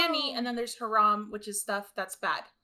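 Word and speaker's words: حرام: for forbidden or elicit I don't know really how to pronounce it but maram um so how would you pronounce forbidden or let's say in Arabic is actually I believe it's Haram oh that's how you say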